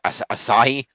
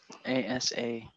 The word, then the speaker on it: Asahi: ASAHI. Asahi. Yeah, that's how I pronounce it, I think.